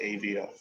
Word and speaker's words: Avo: just I just call some people just pronounce it Avo but I've been smoking AO way back when even when